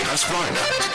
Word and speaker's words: Husqvarna: So I teach you now how to say Husqvarna. You say husk like corn and varn like varnish without the ish, and nah like nah.